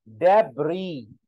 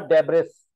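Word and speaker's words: debris: डेब्री नॉट डेब्रिस, डेब्री नया word है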